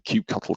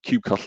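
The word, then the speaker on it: kubectl: using the uh the cubecuttle command now don't pick me up on the pronunciation there i know that there's different camps about that but cubecuttle is what i'm calling it today the uh it's basically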